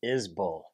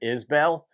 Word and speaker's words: Isbell: i'm doing a subscriber request today of jason isbell jason is i remember the first reaction i did to jason a few years ago i pronounce it isbell and oh my god that i hear from